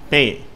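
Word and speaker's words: pay: செலுத்து என்ற அர்த்தத்தை தருகிறது இதை பேய் என்று உச்சரிக்கக்கூடாது பேய் என்று சொல்லி ஆங்கிலத்தில் ஏ என்ற உச்சரிப்பு கிடையாது நம்ம ஏணி என்றோம் இல்லையா அந்த ஏ என்ற உச்சரிப்பு கிடையாது அதற்கு பதிலாக ஆங்கிலேயர் ஐ என்று தான் சொல்லுவார்கள் இந்தியில இந்த குறிலாகிய ஏ கிடையாது ஏ என்ற எழுத்து ஹிந்தியில கிடையாது அதை வந்து அவங்க அதுக்கு பதிலா ஏ என்ற எழுத்தை பயன்படுத்துவாங்க ஆங்கிலத்துல ஏ என்ற உச்சரிப்பு கிடையாது அதை எய் அப்படின்னு சொல்லி சொல்றாங்க பேய் 412 வது வார்த்தை மென்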